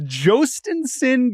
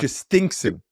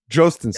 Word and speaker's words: Jostinson: It's Jostinson Garcia. This is a player we have not talked. Justinson. No, I'm giving you the correct pronunciation. Jostinson.